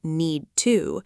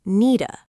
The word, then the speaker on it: need to: Okay, when Americans say need to, we talk very fast. Yeah, you guys talk way too fast. True. We don't say need to, we say needa.